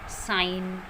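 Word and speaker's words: sign: जब भी जी के बाद एन आता है तो वो जी साइलेंट होता है. For example डिज़ाइन, foreign, साइन.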